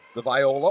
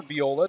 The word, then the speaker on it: viola: at southwest middle she plays the viola or viola depending on how you want to pronounce it she's in the school